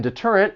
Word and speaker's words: deterrent: Now the T in deterrent, it also comes between two vowels, but we are not going to say this with a flap T.